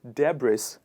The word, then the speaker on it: debris: depress now the the one of the biggest uh errors in pronunciation here is people pronouncing the sound s with this word which is where it goes wrong it is not debris it is debris and we put the s sound in the silent mode here and it becomes